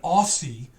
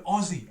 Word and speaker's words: Aussie: I'm not an Aussie, I'm an Aussie, okay? We don't say it like that.